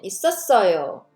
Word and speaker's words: 있었어요: Pronunciation 있었어요.